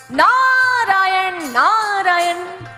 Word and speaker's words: नारायण: नारद जी ने कहा, ऐसे नहीं, जैसे हम बोलते हैं ऐसे बोलो, नारायण नारायण। हमारे द्वारिकाधीश भी उसी लहजे में बोल उठे, नारायण नारायण।